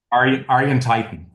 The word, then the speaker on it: Arjen Tuiten: I'm I'm going to don't know how to pronounce his name. Arjen? Arjen Tuiten.